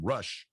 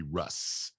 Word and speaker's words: Rush: i was almost certain everybody was mispronouncing his first name they were calling him rush i was sure it had to be russ and uh but i